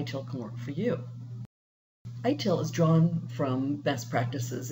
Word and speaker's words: ITIL: 2011 overview what is I tell it's information technology infrastructure library and sometimes it's pronounced it'll because it was developed in England that's the way they pronounce it it's a framework of